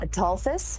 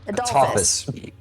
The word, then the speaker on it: Atophus: So the question still stands: do we go for The, Adolphus? Adolphus? Atophus. A-T-O. Let me make sure. Like Apophis, but with a T, as in the god.